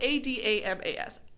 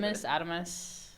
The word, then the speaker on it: Adamas: It's spelled Adamas. Adamas. I was going to assume Adamus.